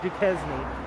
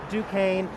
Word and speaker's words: Duquesne: you could I mean it kind of looks like Duchesne but it's pronounced Duquesne you can see uh